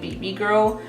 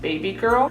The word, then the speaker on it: Baby Girl: I know everyone's been pronouncing it BB Girl, but like Nikita said in her reveal video, it's actually pronounced Baby Girl.